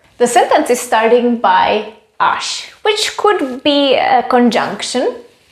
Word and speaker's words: až: adverb by the way ash as well as ush is pronounced with sh at the end when it works as